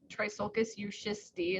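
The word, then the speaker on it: Trissolcus euschisti: And then our one native that's called Trisulcus euschisti is how you say that.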